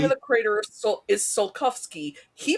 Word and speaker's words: Tsiolkovsky: I love that the name of the crater is Tsiolkovsky. He pronounces it Tchaikovsky, and the subtitles they have are completely different a third way.